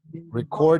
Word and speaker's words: record: Record yourself. ¿No? Practice at home and record yourself. Ajá, record. Recuerden que acá el acento está en la segunda sílaba, porque si decimos record, es un registro.